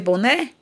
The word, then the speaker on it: boné: Vamos ver boné? Boné. Ó, a sílaba tônica é o né. Então, é a última.